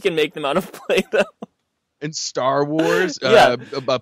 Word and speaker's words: Play-Doh: Play-Doh. Oh, dough as in dough, moldable dough. Play oh, with it. Oh, yeah, play but with the dough. But it's spelled D-O-H.